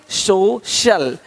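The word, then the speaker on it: social: सकता है अब देखो यदि सी के आगे आई ए हो तो सी का उच्चारण श होता है क्या होता है श होता है क्या लिखा हमने सोशल सोशल सोशल तो यहां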